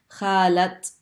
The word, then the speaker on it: خالة: And notice when it's a word like this, khala, and it normally we just say khala, but when you're attaching that word to a person, it's someone's aunt, then you pronounce the ta sound. Khalat maha.